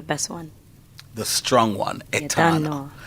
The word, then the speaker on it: Etana: I said Jano Etana, rhyme with Shauna.